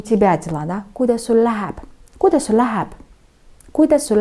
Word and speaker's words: Kuidas sul läheb: «Kuidas sul läheb?» «Kuidas sul läheb?» «Kuidas sul läheb?» Я произношу почти как одно слово. «Kuidas sul läheb?» Очень быстро.